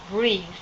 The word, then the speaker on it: breath: Okay, the verb is breathe. Breath. Different pronunciation.